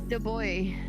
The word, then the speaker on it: Du Bois: That's the boy. Du Bois. Okay. The boy! I was thinking like the boy.